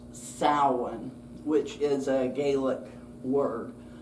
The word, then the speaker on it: Samhain: Spelled s a m h a i n but pronounced sin which is a Gaelic word.